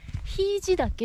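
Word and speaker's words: 平治岳: でもまだ美山霧島の時はひいじ岳っていう、平地って書いてひいじって読むんやけ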